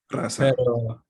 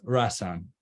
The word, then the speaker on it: Rasan: En kurdo, it's Rassan, Razan. pero en inglés es Rassan.